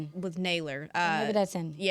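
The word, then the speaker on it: Nailor: I'm going to get this name wrong, but I'm going to It looks like Sailor, but with an end with Naylor.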